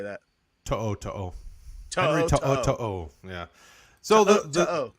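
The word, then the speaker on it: To'oTo'o: Henry To'o. To'o.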